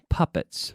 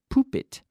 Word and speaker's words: puppet: Pupp et marioneta puppet now not poop it but puppet puppet just like puppy a baby dog is a puppy puppy puppy you have the same sound puppy and then puppet okay alright now we